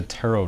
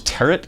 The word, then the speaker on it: tarot: about what is a tarot deck what is that are you talking about those turret cards that I saw target cards so it's pronounced Tarot right the second T is silent you know there are